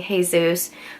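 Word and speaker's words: Jesús: three years old so the J in Spanish is pronounced like an H you know Jose hey Zeus jalapeno etc I'm in the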